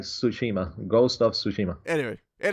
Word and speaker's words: Tsushima: of - Smith - Shima the ghost of Toshima whatever anyway Clarence are you pronounce it Joseph Toshima I would say don't pronounce the T is like Tsushima ghost of Tsushima anyway it is so I'm